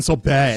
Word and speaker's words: Sorbo: about Kevin Sorbo Kevin sorbet Kevin sorbet it's pronounced Kevin sorbet sorb God get it right sorry this is